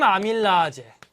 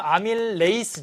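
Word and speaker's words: amylase: 자리엔 또 뭐 침 아밀라아제 침 아밀레이스 요번 바뀐 용어로는 여러분이 배웠던 아밀라아제가 아밀 레이스로 바뀌었어요 그러니까 라제 하는 발음은 독일식 발음이에요 근데 이제 이게 다 미국식 발음으로 요번에 개정 교육과정에서 바뀌었습니다 예 독일식 발음이 미국식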